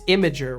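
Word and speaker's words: Imgur: it tries to imager it's imager right that's how they want it pronounced I always hate it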